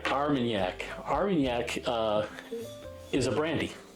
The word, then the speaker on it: Armagnac: Their Florida straight bourbon, and then they put it into Armagnac barrels, right, from France.